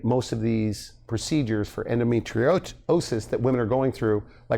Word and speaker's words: endometriosis: but you treat a lot of women with endometriosis, right? Did I pronounce that right?